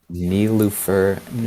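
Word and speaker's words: Nilüfer Yanya: Nilufer Nyanya, yeah, Nilufer Nyanya. Can you yeah, spell that and send that?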